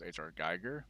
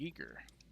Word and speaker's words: Giger: know H.R Giger uh it actually is pronounced because I always always HR Geiger but it's actually a geeker weirdly enough the guy who made